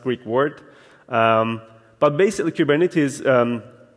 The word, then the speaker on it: Kubernetes: of saying Cuban it is in Greek is given it is but kubernetes came along in the US and